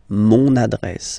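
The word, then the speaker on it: mon adresse: address my address address mon address okay you can hear now this little link so you've got to pronounce this n mon address address okay and the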